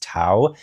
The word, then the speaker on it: Tao: audiobook I know that pronouncing ta is TA not tail I think I said tail in the introduction it's Tao and I do really